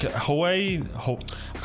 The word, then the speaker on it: Huawei: It's pronounced Huawei.